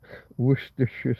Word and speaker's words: Worcestershire: It's almost like wash your sister sauce. Worcestershire sauce.